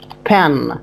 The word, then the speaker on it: pen: It's a pen. Pen. Yes. Very good. Don't say pin. No. This is pin. Look. P-I-N. Pin. But P-E-N is pronounced pen, pen, like this.